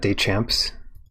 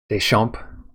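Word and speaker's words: Deschamps: signed by eric dachamps how do you pronounce that day champs deschamp sorry it's pretty cool um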